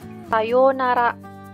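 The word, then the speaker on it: さようなら: kita gunakan untuk perpisahan Sayonara Sayonara itu artinya sampai jumpa ingat di sini ada Oh yang saya isi tanda seperti ini dibaca panjang Sayonara Sayonara ini adalah sampai sumpah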